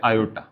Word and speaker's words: iota: ये जो square root of -1 है इसको बोलते हैं आई और प्रोनाउंस करते हैं आयोटा, ऐसा बोलते हैं।